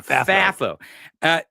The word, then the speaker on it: FAFO: because I it's not that I don't want FAFO. Okay. Is that how you say it? FAFO? FAFO? It is. FAFI? FAFO. Yeah, FAFO.